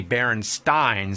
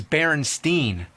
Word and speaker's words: Berenstain: Actually, the most likely pronunciation would be Berenstain, since it was spelled the same way like Frankenstein. But everybody I ever met says Berenstain.